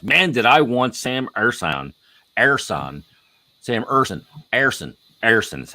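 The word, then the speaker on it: Ersson: Man, did I want Sam Ersan is how it's said.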